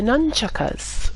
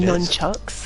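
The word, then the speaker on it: nunchaku: You move on to the nunchuckas, and yes, it is pronounced nunchuckas, or nunchaka. Not it nunchucks, is.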